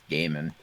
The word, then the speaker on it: Gaiman: It's not Gaiman, it's Gaiman.